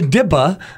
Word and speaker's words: DIPA: kind of messed it up okay it's a dipa that's an acronym out there you know how